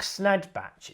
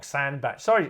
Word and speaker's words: Sandbatch: I spelled his name wrong. Mark Snadbatch, it says there. Sorry, Mark. It's Mark Sandbatch.